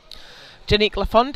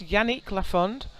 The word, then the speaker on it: Janique Lafond: Janique Lafond is out next for 117.5. Now I think, I'm sorry I've been mispronouncing this, Yannick Lafond.